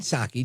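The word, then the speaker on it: Psaki: think it's interesting but Jen saki Jen P Circle back silent P of course uh she's got her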